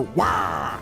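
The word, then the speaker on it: Waaagh: war boss of the Orcs, to halt their Wah! And I kid you not, that's how it's actually supposed to be pronounced.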